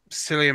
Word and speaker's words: Cillian: Cillian Murphy and Cillian Murphy. is it? I thought Yeah, it's Cillian. Cillian. Oh, Cillian. It's Irish.